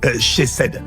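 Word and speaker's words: chesed: En fait la le mot bonté de Dieu, en fait l'origine, c'est le mot euh chez cèd. Chez c ça s'écrit c h e s e d ou c h e c e d.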